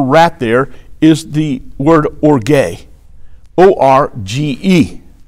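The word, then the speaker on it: ὀργή: The Greek word for wrath there is the word orge, O-R-G-E.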